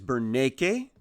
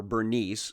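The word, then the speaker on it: Berenice: Now this is Bernake, or Bernice, some of you know the pronunciation as, who is the daughter of Ptolemy the Second.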